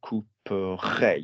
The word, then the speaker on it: couperai: So if you've got, for example, couper, there's no R sound. So couperai, you add the R sound.